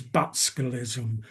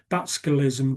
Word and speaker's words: Butskellism: which became known as Butskellism. Butskellism came from the first syllable of the Conservative Chancellor Rab Butler and the last syllable of his Labour counterpart, Hugh Gaitskell. So, it became known as Butskellism.